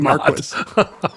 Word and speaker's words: Marquis: heard the word Marquis The Marquis of queensburg said correctly um and I know how badly you want to make fun of for saying Maris and you're so mad that it's right John shelto Douglas actually